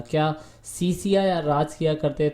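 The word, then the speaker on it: Scythia: आप देखेंगे इसे सी सिया पढ़ा जाता है, ठीक है ना, सी सिया, H इसमें साइलेंट होता है, ठीक है, तो आप H को नहीं पढ़ेंगे, इसे सी सिया पढ़ते हैं, इसके लिए इसका सही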